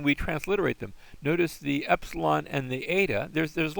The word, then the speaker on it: epsilon: We're not going to call it e. We're going to call them epsilon and eta.